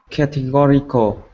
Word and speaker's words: categorical: ceno are you there categorical categorical 5 syllable and what the third syllables yet yes five syllables and the third one is stressed and unfortunately i have